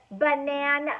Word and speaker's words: banana: a little bit but banan ah that a is how you spell banana but it's making a short u sound so if I was